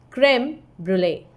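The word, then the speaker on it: crème brûlée: What is the pronunciation of this? Creme brulee. It's also given in your book. You can see it here. It's creme brulee.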